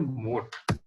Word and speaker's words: Mote: Okay, you can see here at not a Moto, it is a mode. It is something, I'm right. Pronunciation, it's a MOTE, mode. MOTE, okay. Mode.